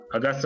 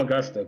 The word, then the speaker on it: Auguste: I call him Augusta, but whatever. August, Well, I guess. It would be easier if you pronounced his name the way it's supposed to be pronounced, that's all. Auguste.